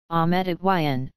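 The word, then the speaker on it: Ahmet Ertegün: Ahmet Ertegun, Turkish pronunciation, Ahmet Ertegun, July 18, 1923 December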